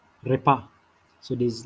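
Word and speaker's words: repas: the meal is called repa repa so it is like uh rolling of the tongue with r and then the s is silent repair food generally you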